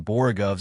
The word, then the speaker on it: borogoves: Again, the first O in borogoves is pronounced like the O in borrow. I have heard people try to give it the sound of the O in worry, such as human perversity.